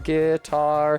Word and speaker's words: guitar: start the phrase with but guitar has the stress on the second syllable so you have to say it like guar guitar in order to make it work and it sucks a